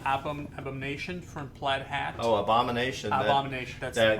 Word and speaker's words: Abomination: Oh, Abomination. Abomination. That's the right pronunciation.